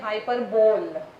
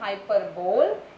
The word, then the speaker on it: hyperbole: कितने लोग कहते हैं hyperbole? It's not hyperbole, it's hyperbole.